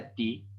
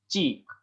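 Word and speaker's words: ち: Kenapa nggak dia ti, tapi di sini adalah ci. Nah, begitu. Jadi di sini bukan tati ya, bukan ti, melainkan adalah ci. Taci.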